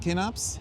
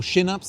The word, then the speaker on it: Kinnarps: director Global Marketing Communications at kups or shups I should say I think that's the correct pronunciation and Jenny herberg you're